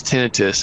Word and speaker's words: tinnitus: And I often say tinnitus, Wade, tomato. Many doctors say tinnitus, so you'll hear me saying that as well. Is that the proper pronunciation, tinnitus? The proper pronunciation is tinnitus, and people hear that.